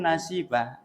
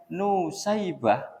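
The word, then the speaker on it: نسيبة: Nun sin ya ba ta marbutah nasib. Tapi kalau nasib itu di dibaca dengan nusaibah, nunnya di domah, sin-nya di fathah, kemudian ya-nya disukun, nusai. Iya kan? Nah, tapi ulun cenderung itu karena penuturan guru ulun yang lebih dekat itu sebujurnya adalah nasibah, bukan nusaibah.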